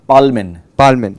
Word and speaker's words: Palmen: Palmen. Yeah, the L has to come out in German.